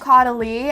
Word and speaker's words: Caudalie: They are from the brand Caudalie, I believe is how you pronounce it.